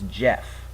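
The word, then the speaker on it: Geoff: My first name is Jeff. And it's not spelled J-E-F-F, it's a little weird. It's spelled G-E-O-F-F.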